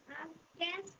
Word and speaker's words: outcast: Devil, Devil the outcast. আউটকাস্ট, টিটা উচ্চারণ হবে না, হ্যাঁ টিটা উচ্চারণ হবে আউটকাস্ট, আউটকাস্ট, Outcast.